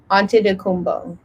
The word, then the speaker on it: Antetokounmpo: I really made it a priority to pronounce his name right because he is Giannis Antetokounmpo.